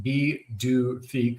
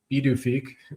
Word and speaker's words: Pituffik: So they're calling it Pituffik Space Base pronounced B D Fik. So B D Fik instead of It starts with a P, but that's And Thule and Thule Thule, yeah.